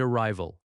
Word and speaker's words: arrival: Departure and arrival. Departure. Stress on the second syllable. Departure. Arrival. Arrival. Stress on the second syllable again.